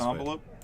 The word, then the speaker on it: envelope: Can I have an envelope? It's an envelope. Nope, envelope. The emphasis is on the second syllable.